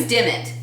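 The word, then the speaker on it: Dimmitt: It was Dimit. And it's pronounced the exact same way it's written. Well, what's funny is in the book he gives you the spelling, but then he gives you the pronunciation, except for Dimit, where it's just the same thing. It's pronounced exactly how it's spelled, apparently.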